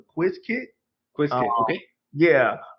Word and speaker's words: Qiskit: I'm gonna pronounce it properly. The Quiz Kit.